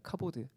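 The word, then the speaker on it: כבוד: 이 갑옷 가보시라고 기록했지만 이보다 더 정확한 발음은 카 보드입니다 카 보드 발음이 비슷하지 않습니까 이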